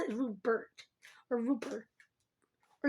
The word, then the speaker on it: Rupert: I don't pronounce the T, which is odd because Rupert is the French version of Robert. You'd think, and you notice I'm pronouncing Robert, I pronounce the T, but not.